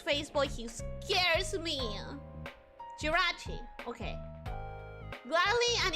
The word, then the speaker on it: Jirachi: More accent on the ra. Jirachi is what you're saying.